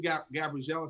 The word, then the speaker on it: Gabriella: Thank you, Gabriella. She says, it's pronounced Gabriella, like in English, but it's just the Croatian spelling.